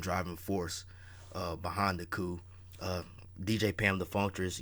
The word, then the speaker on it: Coup: we're doing it on the coup the p is silent but uh the coup